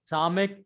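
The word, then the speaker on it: ס: Samek, yes, Samek. sat. S in sat.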